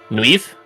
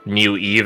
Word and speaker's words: Nueve: Nueve, or New Eve, as Venlins call it, because they can't be bothered to learn how to pronounce that shit properly.